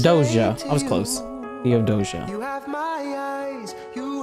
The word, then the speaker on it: Theodosia: Oh, I can't pronounce that name. Theodosia? Theodosia? Dear Theodosia, what to say Doja. to I was close. Theodosia.